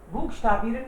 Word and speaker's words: buchstabieren: Can you please buchstabieren का मतलब है to spell, spelling बताना। to spell का मतलब है किसी चीज की स्पेलिंग बताना। buchstabieren, buchstabieren, बुक ch को ख बोल रहे हैं हम लोग, buchstabieren, buchstabieren मतलब स्पेलिंग बताना।